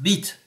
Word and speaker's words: bite: have some cool images it's pronounced beat but I'll let you